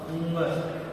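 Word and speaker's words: ङ: कुछ लोग इसका गलत उच्चारण कर लेते हैं। जैसा कि आपने कुछ लोगों को क ग ग घ अड़य कहते हुए सुना होगा, जो कि एक गलत उच्चारण है। इसका सही उच्चारण होगा उंगर। जैसे आप वर्णमाला में देखिए क ख ग घ उंगर।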